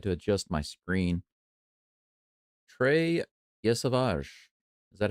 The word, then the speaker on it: Yesavage: Trey Yesavage. Is that how you say his name? Yes, Savage.